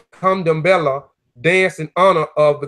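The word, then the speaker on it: Candomblé: Kandambala, pronunciation Kandambela, dance in honor of the gods.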